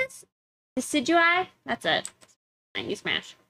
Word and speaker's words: Decidueye: you smash uh how do you say this decidueye that's it thank you smash you pass okay